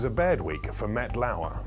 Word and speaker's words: Lauer: It was a bad week for Matt Lauer, rhymes with sad flower.